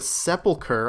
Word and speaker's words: Sepulchre: filled in time for a first run-through the sepulcher I looked it up that's how to pronounce Sepulchre just so everyone knows and yeah